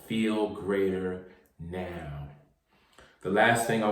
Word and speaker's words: FeeLgr8r: I'm here to tell you that Feel Greater is spelled FeeLgr8. That's the number 8 now. R. Now say it fast with me. Feel greater, feel greater.